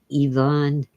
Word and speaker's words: Ivan: My favorite is Ivan, or correctly pronounced Ivan.